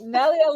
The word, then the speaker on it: Nelia: Today, I'm speaking with an amazing woman named Nelia. Is that how I pronounce that? Yes, Nelia is perfect. Yes. All right. Nelia lost her father in 2005 and at that